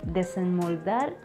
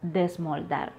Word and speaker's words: desmoldar: I was saying desenmoldar instead of desmoldar.